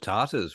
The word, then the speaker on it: Tata: When I first visited India, it was the Tatars running the place, I think.